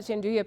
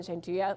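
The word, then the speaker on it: gianduja: to that rule is spelled g-i-a-n-d-u-j-a and I always say that because so many people have seen the word before but never knew how to say it our hazelnut peas our hazelnut chanduya piece hazelnut gingui is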